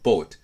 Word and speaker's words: boat: つありますあと例えば bought と BOAT これなんかは発音記号がこうなってるのに逆にこっちは綴りが応だからローマ読みしちゃってボートて言っちゃって逆にこっちは日本語でボートっていう単語があるからあんまり二重ボイにしないでボートみたいにこう逆っぽく言っちゃうっていうこともよく